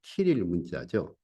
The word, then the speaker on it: 키릴 문자: 그래서 뭐 어떤 분은 뭐 시릴 문자라고도 발음하는 분도 계시던데 키릴 문자죠.